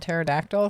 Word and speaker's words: pterodactyls: The P is silent.